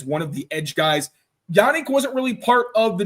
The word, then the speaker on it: Yannick: Yannick, by the way, not Yannick. Yannick. Okay. Yeah, Yannick. I went to the pronunciation guide. I had to make sure.